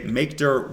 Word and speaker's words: mkdir: CD to the Tilda in mkdir which is make directory we're creating a folder and I'd like you to say makeer workspace now me I've already